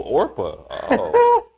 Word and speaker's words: Orpah: real name is oprah oprah is the or oh orpah is the name of the biblical figure in the book of ruth she is known as oprah because people mispronounced her birth name often when she